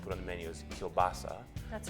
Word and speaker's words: kielbasa: And I started doing a little research, and apparently Kolbassa is the Polish version, and kubasa is the Ukrainian version. And so in Manitoba, the dish was brought by the Ukrainians. And because in Ukraine they don't use the same letters we use, that it got translated a different way.